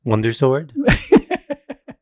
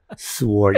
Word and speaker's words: sword: his junk sword SW you're saying it wrong sword get the W out so stupid why is there W in that why is there a w in that word so we conclude that